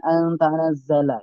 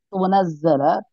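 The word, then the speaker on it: تُنَزَّلَ: Ya, Ibu Sri Hartanti ya di lafat antunazzala tadi Ibu bacanya dengan antanazzala ya. Jadi kurang teliti Ibu di situ tunazzala taknya dhamma ya, jangan dibaca dengan tak.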